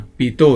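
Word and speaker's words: Pitot: ya oke yang keempat pipaito ini bacanya Pito ya Pito karena ini orang Prancis enggak baca t pipaito yaitu alat ukur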